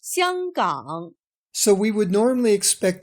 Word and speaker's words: 香港: In Standard Mandarin, the name is pronounced 香港, so we would normally expect to see it on the map as 香港.